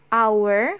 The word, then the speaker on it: hour: And then for words that start with a silent H. Jadi kalau misalnya ada kata yang huruf H-nya tidak dibaca, for example hour, bukan hour ya, but hour. Yang benar itu hour and honest.